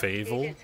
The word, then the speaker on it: Fievel: Fievel. It's pronounced Fievel though.